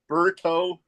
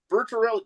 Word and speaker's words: Bertorelli: It's not Scapoli, it's not Bertoli, it's not Bernelli, it's Bertorelli. That is Bertorelli, because that is where